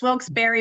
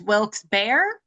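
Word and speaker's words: Wilkes-Barre: that it's Wilksberry, but if you are a local, it's Wilks Bear, but that you really have to have been there for generations.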